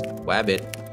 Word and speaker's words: Rabbit: 1974 three years later the rabbit pronounced as wabbit virus would first make an